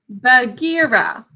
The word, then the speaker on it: Bagheera: B-A, syllable break. G-E, syllable break. R-A. Bagheera.